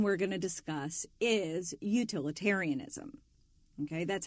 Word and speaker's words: utilitarianism: And the first one we're going to discuss is utilitarianism. Okay, that's how that word is pronounced.